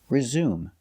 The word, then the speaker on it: resume: next word is resume it never has accent marks the pronunciation is always the same resume it's a verb it